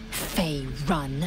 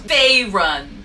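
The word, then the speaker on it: Faerûn: on matters of this Fay run of course I will she's like me she can't pronounce things right no no it's fayun like I said it right I love her she's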